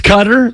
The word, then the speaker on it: Qatar: the half I watched guitar yesterday is it guitar how do you pronounce it it's cutter but uh you can say guitar you can